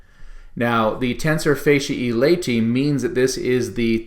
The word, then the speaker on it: tensor fasciae latae: good it's correctly pronounced tensor facia e laity and that's because those a e's on the end of those words should be pronounced as an e sound now the tensor facia e laity means that this is